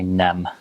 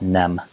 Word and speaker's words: nem: it's again and for no you just say nem so just like that nem um for hello and goodbye you actually use